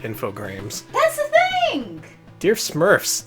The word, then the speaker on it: Infogrames: Also, they're officially pronounced Infogram, but their song clearly calls it Infogrames.